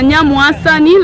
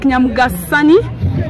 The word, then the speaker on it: Nyamwasani: That river is called River Nyamwasani, like Nyamgasani, if you want to pronounce it in English. But if you're pronouncing it in Lukonso, it's called Nyamwasani.